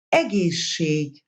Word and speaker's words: egészség: If there are two different sibilants following each other, they take on the pronunciation of a long version of the second. Egészség, egészség.